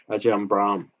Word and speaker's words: Ajahn Brahm: So now I know how to pronounce it properly. Ajahn Brahm.